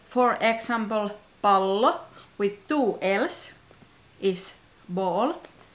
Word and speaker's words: pallo: So be careful with length of vowels and consonants. For example, pallo with two L's is ball, and palo with one L is fire.